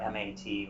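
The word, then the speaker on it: maith: either the right abbreviations on the calendar are mat or a-n-m and Mott m-a-t is a pretty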